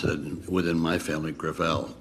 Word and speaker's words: Gravel: chairman I'm sorry thank you okay thank you senator gravel with all due respect let me correct I pronounce ed within my family Gravelle it's a French name thank you huh I